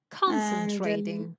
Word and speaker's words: concentrating: Concentrating. Concentrating. They're stressing on the first syllable.